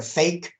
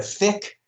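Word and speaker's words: PHEIC: some call it a fake which is just an awful acronym when you think about it some call it a fick um but i'm talking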